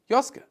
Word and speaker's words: Joske: a Jewish-German immigrant, Julius Joske. That's how to pronounce it in German.